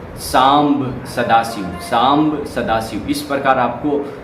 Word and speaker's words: सांब सदाशिव: सबसे पहले उठकर हमें शाम सदाशिव, शाम सदाशिव, शाम सदाशिव, शाम सदाशिव, इसका सही उच्चारण सुने, सांब सदाशिव, सांब सदाशिव।